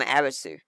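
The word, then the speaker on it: アリス: It gets translated from Arisu, which is Arisu. And it's actually pronounced Aris. U at the end of a word, when it's English like that, is usually silent.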